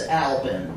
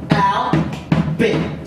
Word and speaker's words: Albin: The name's Albin. Easy to pronounce. Albin. Albin. Bin. Al.